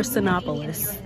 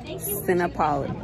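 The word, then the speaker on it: Cinépolis: to get some so it's called cinepolis or sinopolis she's mad she's mad at me because because i keep pronouncing the um the theater name but it's either sinopolis or cinepolis cinepolis cinepolis yeah no i didn't police it looks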